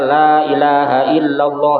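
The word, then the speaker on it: لا إله إلا الله: Jangan lailahaillallah. La ilaha bukan ila ilaha. Kecuali kalau baca cepat ilah. Lailahaillallah. Lailahaill itu boleh. Tapi lailahaillallah. La ilaha salah. Harus ada h-nya. Lailaha. Tiada tuhan yang wajib disembah. Illallah. Ada tasdid illallah.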